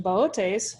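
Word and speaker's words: Boötes: next to the constellation Bootes and the reason being why I call it Bootes and not booties is because one of the O's on the constellation has in Laos now if I accidentally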